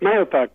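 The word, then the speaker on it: Mahopac: I graduated I got a pulpit in lake manapac by the way you pronounced it exactly right okay you pronounced the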